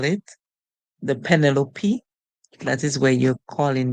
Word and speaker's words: Penelope: together l penel l so we have penel o because the e at the end silent whenever e at the end silent the vowel that comes before the consonant most of the times it would make a long song that's why it calls its own name so for this we